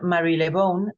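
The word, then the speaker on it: Marylebone: que dorotea Mary Mary lebone en realidad se pronuncia Mary lebone porque es el nombre de un barrio una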